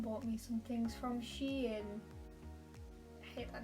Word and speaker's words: Shein: Is it Shein? Is it Shine? Who knows? I'm informed it is Shein. But I don't like that one. That's the worst of all the options, but apparently that's the right answer.